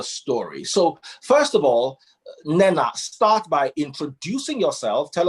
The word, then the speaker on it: Mnena: Mnena. Mnena. But I will Mnena. You have to Okay. hold the M a bit, like humi, like Mnena.